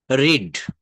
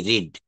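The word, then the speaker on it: read: রিড রিড আমরা এভাবে পড়ি কিন্তু সঠিক উচ্চারণটা হবে রিড রেড রিড বানান কিন্তু একই থাকবে উচ্চারণটা হবে রিড রেড রিড একটু খেয়াল করবো আমরা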